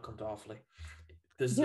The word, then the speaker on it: Offaly: It's called Offaly, hence the name being Awfully Irish. Oh my gosh. I thought that was such a cute name. Is it really called Awfully? Yeah, it's called Awfully. It's spelled different.